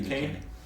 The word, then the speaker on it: Duquesne: this went to uh Duquesne juice Kane how do you say it Ducane yeah same night I got